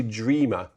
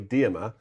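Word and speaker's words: Dearmer: But what clinched it was Percy Dreamer um or Dmer sorry Dmer who invited him to do um the English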